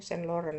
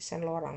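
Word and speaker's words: Saint-Laurent: Kalau bahasa anu St. Lauren ya tapi sen lorang bacanya itu ya di sini gitu loh teman-teman.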